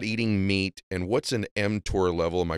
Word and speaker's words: mTOR: Yeah, you're pronouncing it correctly. It's called mTOR.